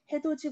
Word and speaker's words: 해돋이: 그래서 우리 발음이 국외음화가 없었다면 우리 해돋이 보러 가자. 그리고 혀 짧은 소리가 나잖아요. 그죠? 근데 해돋이 보러 가자라고 발음할 수 있게 돼서 참 다행이죠.